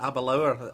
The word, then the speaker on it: Aberlour: I was saying Aberlour, but Aberlour, I take it as the proper pronunciation, yes.